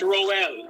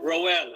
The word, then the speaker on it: Roel: Tell tell us how to spell uh pronounce your name. This is Roel. Roel.